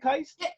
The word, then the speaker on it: Keist: Did I say it right? Is it Keist? You did. You said it right.